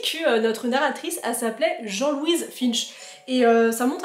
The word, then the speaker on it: Jean Louise: c'est bizarre comme prononciation jean-louise et je pense non la prononciation anglaise correcte c'est Jean Louise Finch voilà je voulais vous